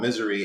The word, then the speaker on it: Mzry: And I saw this song called Misery, and it's spelled Mzry.